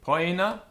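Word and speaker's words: poena: OE as in oi, poina.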